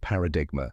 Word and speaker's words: paradigm: d i g m common mistake is pronouncing the G but remember the g is silent just like in sign or a line now